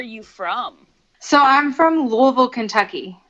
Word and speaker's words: Louisville: If you're from here, it's Louisville. Yes. Louisville. If you're not from here, it'll be one of the other pronunciations.